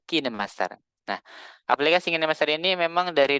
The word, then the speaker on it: KineMaster: mengenal aplikasi kinemaster dulu biasanya saya bacanya atau mengucapkan dengan bacan Kin Master tapi ternyata kalau misalkan kita lihat para editor yang membahas tentang aplikasi ini mereka membacanya sebagai kinemaster nah aplikasi ini memang